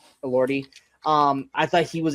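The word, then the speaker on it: Elordi: Ori.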